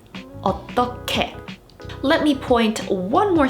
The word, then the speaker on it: 어떻게: Here, the Hieut is the 받침, but the pronunciation rule remains the same regardless of the order. So this word would be pronounced as 어떻게, 어떻게.